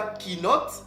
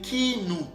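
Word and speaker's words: קינות: prononciation de ce mot-là c'est pas qui note mais c'est qui nous qui vient de qui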